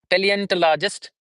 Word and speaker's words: paleontologist: Tloist sound would be there instead of tall. Instead of tall that would be tal paleontologist. Paleontologist we say paleontologist. P sound would be there.